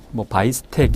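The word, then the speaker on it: Biestek: 이것은 비에스텍이라는 학자, 바이스텍 이렇게 발음하기도 하는데요. 비에스텍이 관계 친일대 원칙에 관련된 내용입니다.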